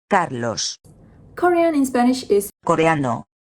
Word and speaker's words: Carlos: I know it's a little bit tricky, but deep inside your mind, you already know Carlos was actually Carlos.